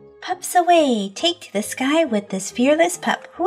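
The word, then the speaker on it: Skye: Her name's not Psyche, it's Sky.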